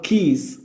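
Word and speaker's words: quays: നമുക്ക് കാണാൻ പറ്റും ഹാർബർ കീസ് ഹാർബർ എന്ന് പറഞ്ഞാൽ ഈ തുറമുഖാണ് കപ്പലും ബോട്ടഒക്കെ അടുപ്പിക്കുന്ന സ്ഥലമല്ലേ തുറമുഖം അതാണ് അവിടെ ആ വേർഡ് കണ്ടോ ക്യു യു എ വൈ എസ് ക്വ എന്ന് വായിക്കരുത് തെറ്റാണ് കീ എന്നാണ് ഉച്ചാരണം അതെ കീസ് കീസ് എന്ന്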